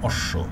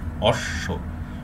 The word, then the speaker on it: অশ্ব: না, উচ্চ থাকে, কিন্তু শব্দের মাঝে কিংবা শেষে থাকলে যেমন অশ্ব এইটির বেলায় কিন্তু দ্বিত্ব হচ্ছে, দেখেন অশ্ব স্বটা তালব্য স্বটা দুইবার উচ্চারিত হয়েছে এইটি দ্বিত্ব।